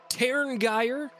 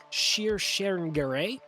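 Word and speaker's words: Tír Tairngire: Terngeyer, or if you want to pronounce it the way that some of them would, it would be Shir Sherengare.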